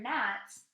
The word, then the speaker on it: gnats: one in the word nats we don't pronounce the g because it is silent number three mom likes